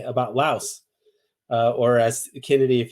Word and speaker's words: Laos: Another one that was important was Lao or you know people often say Laos. Technically, it's actually Lao. The S is there because of the French uh influence, French colonialism.